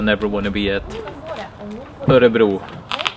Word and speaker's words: Örebro: Örebro, or as the locals say, Örebro.